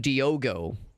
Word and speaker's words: Diogo: I thought his name was Diego. He's calling him Diogo.